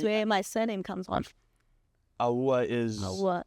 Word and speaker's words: Awuah: But in Ghana, it's Awuah, not Awuah. Awuah. Kind of like Awuah, but Awuah, but Awuah.